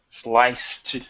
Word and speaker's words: sliced: Sliced celery for lunch. Okay, there you go. Sliced. That's it. Perfect. Right. Even though it's a C, it makes an S sound, which is voiceless. So T pronunciation.